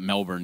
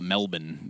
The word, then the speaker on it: Melbourne: It was like you don't call it Melbourne, you call it Melbourne. Melbourne. They don't even know what Melbourne is. That is actually true. Yeah, that is actually true. Only people outside of Australia pronounce the full, like the actual letters of that city.